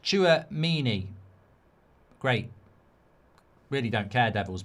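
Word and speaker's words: Tchouaméni: It's pronounced Chouamini.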